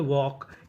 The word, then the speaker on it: walk: जैसे WALK इसे पढ़ते हैं वॉक, यहाँ पे L हमारा साइलेंट रहता है, L का उच्चारण नहीं करते, और आखिरी में ED, तो मीनिंग बनी वॉक्ड, वॉक्ड, वॉक्ड का मतलब टहला।